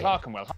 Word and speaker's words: Clerkenwell: E-R is pronounced R. Berkshire, okay, Clerkenwell, Highland, okay.